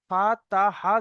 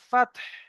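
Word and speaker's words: فتح: ওয়াল ফাতহ, ওয়াও লাম জাবার ওয়াল, ফাতহ, ফা তা, ফা তা হা জাবার ফাতহ। লাস্টে আমাদের কিন্তু হা আছে, হাকে উচ্চারণ করতে হবে। ফা তা হা জাবার ফাতহ।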